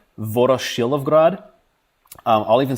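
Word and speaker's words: Voroshilovgrad: so uh I will recommend a book called VOR shrad um I'll even spell it out because I know it's a it's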